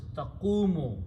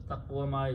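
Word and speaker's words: تقوم: tafu is a taqwamu, and to pronounce we switch this and pronounce as taqumu, because taqwama is not a very good pronunciation. So we change the harakat mutually and take the sound of the waw back.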